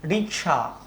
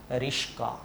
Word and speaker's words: রিক্সা: ঠিক একইভাবে রিক্সা, অনেকেই এটাকে কি বলে, রিস্কা। তালব্য স এবং ক পরস্পরের মধ্যে জায়গা বদল করেছে।